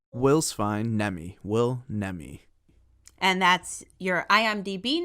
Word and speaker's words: Will Nemi: uh how how would you prefer your name pronounced will's fine nemi will nemi and that's your imdb name is that the